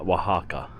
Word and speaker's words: Oaxaca: This right here is probably the best view that you're going to get of Wajaka. Finally, I'm saying it right. Wajaka.